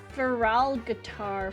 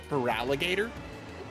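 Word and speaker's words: Feraligatr: Feral Guitar? Feraligator? Oh, Feraligator? Oh, I see. That was a very impressive mispronunciation, I gotta say.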